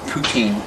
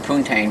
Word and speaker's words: poutine: Yeah, you go to Burger King and get poutine. Except I always pronounce it poontang, but, you know, that's... mispronunciation, I don't know how it's supposed to be pronounced, but, you know. Poutine.